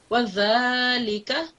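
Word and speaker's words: وذلك: So take your tongue out. So do it as I'm saying it, okay? Tongue out, touch the upper teeth, press it, and then pronounce the word, the letter, sorry.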